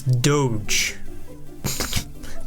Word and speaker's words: Doge: I guess technically that's Doge apparently is how you pronounce that one Doge Miner which is a slang term for dog not necessarily Dodge Miner Doge minor whatever dog